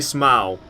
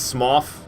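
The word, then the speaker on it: Smough: small if you prefer I've heard some people even say smile I do not agree with the smile pronunciation I actually do think it is smof like Goff but I can't bring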